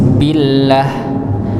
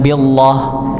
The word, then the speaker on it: billah: Tetapi jika lafaz Allah itu sebelumnya berharakat kasrah maka dibaca ti tipis billah lillah ya. Bukan billah lillah enggak bisa. Ya, ini ke kurang tepat kalau kita baca seperti itu.